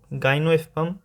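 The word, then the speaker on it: gymnosperm: गाइनोस्पर्म, जिसमें एम जो है वो साइलेंट रहता है, तो गाइनोस्पर्म इसको कहते हैं।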